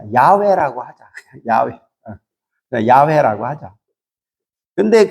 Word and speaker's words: 야훼: 근데 번역을 잘못했는데, 그래서 이제 그 발음이, 히브리 발음이 여호와가 아니에요. 야훼, 야훼, 야후, 뭐 이렇게 발음할 수 있어요.